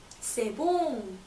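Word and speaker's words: c'est bon: 그럼 맛있다는 표현은 바로 세봉 이렇게 말하면 돼요.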